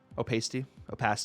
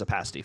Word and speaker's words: opacity: Should I leave you being STG there, or should I correct your pronunciations? Opacity. It is opacity.